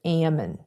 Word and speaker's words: Ammon: I mean, the CEO's name is Ammon. Ammon is a Book of Mormon prophet. And by the way, Reckless Ben, you keep pronouncing it Ammon, it's Ammon.